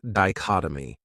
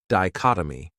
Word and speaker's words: dichotomy: Another great noun is dichotomy. This word has 4 syllables, and the stress is on that second syllable, dichotomy. That 3rd syllable has that schwa, that sound, di-chot-o-my.